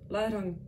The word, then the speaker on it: larang: Donc les R se roulent. En reprenant ce mot de larang, je reviens à une autre règle. Le ANG et le ENG se prononcent larang. Donc c'est pas la rang, enfin la rang, c'est la rang. Donc tu vas faire ang ou ang, plus ang pour le ENG, plus ang pour le ANG.